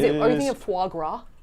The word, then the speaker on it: foie gras: Are you thinking of foie gras? Foie gras. I think that's the official French pronunciation.